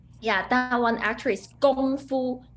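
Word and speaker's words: 功夫: Gong, not Kong. Gong is start from G. Gong Fu, first tone. Gong Fu. Yes, that's also a very good point, that it should be pronounced like with a G sound, not with a K sound.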